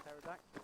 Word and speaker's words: pterodactyl: Why can't you hear a pterodactyl just in the bathroom? Because the P is silent.